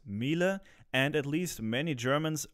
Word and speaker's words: Miele: II and the name of the manufacturer is pronounced Miele and at least many Germans regard the washing